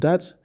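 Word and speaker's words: ث: central upper incisors, and you try to slightly bring the tongue out in between the upper and lower incisors. And so with that, you will be able to pronounce tha in the best way.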